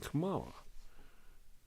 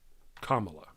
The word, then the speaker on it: Kamala: to assassinate Biden and commala Kamala I don't know why I'm saying it wrong this morning Kamala um